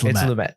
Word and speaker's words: Lumet: I've been pronouncing Lumet wrong. It's Lumet.